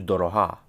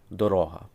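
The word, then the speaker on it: дорога: The pronunciation changes from Doroha, road, path, to Doroha, dear, expensive. Doroha.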